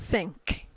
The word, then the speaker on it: cinq: In this case, the Q sounds k, so you pronounce cinq.